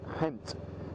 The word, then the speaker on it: Ghent: past and then we're going to go past Kent and that's actually the correct pronunciation for what how we would say it fanatically Ghent now gentis is an interesting City in Belgium